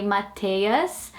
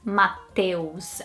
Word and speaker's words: Mateus: And I think people would say Mateus in the same way that they would mispronounce Rafaela. They would probably try and say Mateus. And yeah, that would be a real struggle for someone to read that name and to pronounce Mateus. I don't think that sound, the EUS comes naturally in this language to say eus instead of eus.